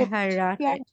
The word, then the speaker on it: verheiratet: ইয়া হুম, ইয়া ইয়া ইস বিন ich bin pair হাইরেটেড verheiratet, হ্যাঁ এটা fair বলবে না, ফার বলবে না, যেহেতু এ আর একসাথে আছে আমরা আর মতো উচ্চারণ করি না।